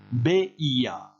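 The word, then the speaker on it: veía: Et vous avez le verbe ver, voir, qui donne, on prend son temps pour prononcer, beia, beias, beia, beiamos, beiais, beian.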